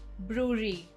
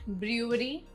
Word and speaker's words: brewery: Word 23, brewery. Not brewery, brewery.